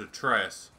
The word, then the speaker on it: Atreus: Your name's Atreus.